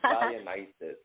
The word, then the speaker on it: Dionysus: He actually pronounced it correctly, which is amazing. It is Dionysus. That's a beautiful name, Dionysus. It's actually the name of a god. It's the god of wine. I've studied it before. Oh. That makes sense why you were able to pronounce it. It's very rare that anyone can pronounce it properly.